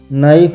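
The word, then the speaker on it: knife: एच नी में के नाइफ में के इस तरह से आप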